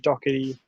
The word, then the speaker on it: Doherty: Doherty as well will be there with them, so you know, helping the defense. But yeah, I think Harry Kane good Doherty. year. Yeah, what's Sam his name? Doherty?